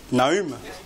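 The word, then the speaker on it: Nahum: invite à prendre Naum c'est c'est comme ça qu'on prononce Naum très bien Naum alors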